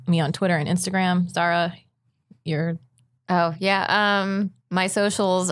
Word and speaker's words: Zahra: an H in the Zara there's an H in the Zara zah RA don't ask me why my parents wanted to spell it phonetically because they didn't believe